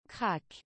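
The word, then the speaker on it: krach: Crack. Ok, c'est en fait ça s'écrit K-R-A-C-H, mais ça se prononce crack, ok.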